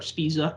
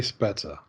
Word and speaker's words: Spezza: card of uh spezza spisa i never how do you say his name is it's pizza or spezza i say spezza spezza all right so anyways